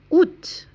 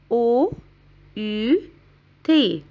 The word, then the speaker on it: août: Août. Août. Agostos. Août. A O U T. Août. طبعا مش بننطق الآ مش بنقول out non on dit août août.